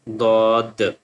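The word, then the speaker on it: ض: So sheen lam sheen lam sheen lam The next one swad and then dwad swad and then dwad swad dwad And the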